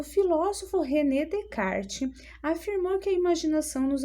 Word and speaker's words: Descartes: Olha, a pronúncia correta, René Descartes, tá? Descartes.